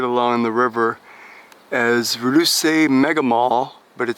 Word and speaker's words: Ruse: No, that does not read pike. It actually is spelled R-U-S-E. Ruse.